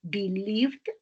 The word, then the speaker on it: believed: I have believed, no believed, es believed porque termina en V, entonces se pronuncia como una D.